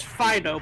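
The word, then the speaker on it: Phidoux: His name is Pho, but it is spelled P H I D O U X.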